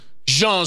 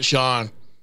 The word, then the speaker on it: Jean: Number seven, you know, I thought it might be pronounced Jean, but it's not, because it's not French. See, my inclination was to be Jean Sibelius, but it's not.